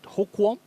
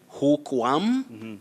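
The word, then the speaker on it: hookworm: humans and other animals is it hokwa you say guam that's not warm warm is w-a-r-m like warm water you say hook worm tapeworm yes lukewarm not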